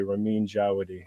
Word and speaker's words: Ramin Djawadi: could all agree to say his name properly, Ramin Djawadi.